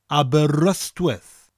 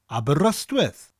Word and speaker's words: Aberystwyth: the letter Y, and English-speaking people tend to pronounce that letter Y as an I sound if they don't speak Welsh. But that Y has an A sound, Aberystwyth. Aberystwyth.